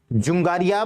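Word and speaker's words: Dzungaria: ठीक है, क्या कहेंगे उसको हम, या फिर अच्छे से प्रोनाउंसिएशन उसका हो जाएगा, हिंदी वाले टेक्स्ट में किस नाम से लिखा हो। एक सेकंड रुकिएगा। ये हो जाएगा आपका जुंगारिया बेसिन।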